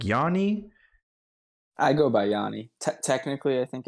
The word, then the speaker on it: Yoni: I never really figured out how to pronounce it. Is it Yoni or like Yanni? I go by Yoni.